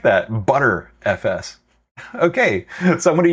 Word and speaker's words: Btrfs: Oh, it's commonly pronounced butter FS. I like that, butter FS.